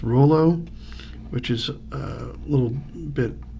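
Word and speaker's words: Rouleau: I think it's pronounced Rollo, which is a little bit out, little ways from Regina, which is a town in Saskatchewan.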